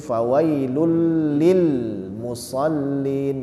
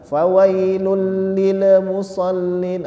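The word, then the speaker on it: فَوَيْلٌ لِلْمُصَلِّينَ: fawailul Lil lulil ya lilnya itu kita bukan menekan tapi mensukunkan huruf lam yang kedua penekanannya terjadi pada lam yang pertama lam yang kedua ya ini ada tiga lam ya fawailil ya lulnya itu Ditekan fawailil Musin Lil yang yang terakhir itu mensukunkan nah yang saya katakan tadi jangan sampai ada Pantu bulan ya karena dia bukan huruf Qalqalah jadi fawailul Lil musallin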